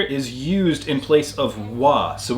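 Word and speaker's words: は: used in place of wa. So when we see a word that is pronounced wa, but it's spelled ha as a particle, we're using this ha right here.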